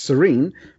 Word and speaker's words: Serein: Because So, it's serene, but it's spelled yeah, Serein.